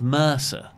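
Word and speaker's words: MRSA: yes by the way Americans pronounce Mr essay as Mercer do they know yeah the Mrs a infection the initial additional ism of Mrs a yeah they've turned it into an acronym Mercer Mercer they say yes I'm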